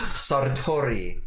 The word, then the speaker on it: Sartori: Sartori. Ooh, you can roll your R's.